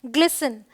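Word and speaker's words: glisten: यहाँ पे एस टी है, ये है फासन, टी साइलेंट है। ये है ग्लिसन, ये क्या है, लिसन, ये क्या है, मॉइसन।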